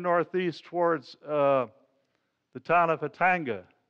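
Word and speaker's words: Khatanga: It's down the valley, the river's flowing north, obviously, and turned northeast towards the town of Hatanga. It's spelt with a K but pronounced with an H.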